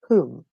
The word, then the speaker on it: whom: okay, and this is another pronunciation of the same spelling, W and H, and we have who, so whole and whom. We do not pronounce the letter W, okay?